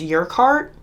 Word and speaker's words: Urquhart: It's Urquhart.